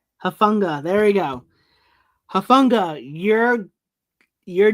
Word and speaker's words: Hufanga: Hufnaga. No, I did it again. Oh, how do you say his name? Hufanga.